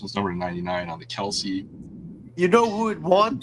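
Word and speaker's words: Kelce: I know it's Kelsey, but according to Acer, we're not allowed to pronounce his full name correctly.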